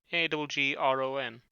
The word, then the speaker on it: Aggron: It's Agron, right? Agron. Agron. Aggressive and then also iron.